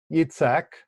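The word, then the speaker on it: Yitzchak: son whom you love itsec isaac remember we're using the the more hebraic terminology or hebraic pronunciation in the shocking book here and go forth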